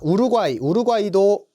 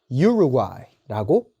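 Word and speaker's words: Uruguay: 자, 우루과이도 아닙니다. 유루과이라고 읽어주시면 됩니다. 이러한 단어들을 조금 이렇게 놀라시면서 학생분들이 이런 질문을 하시곤 하죠.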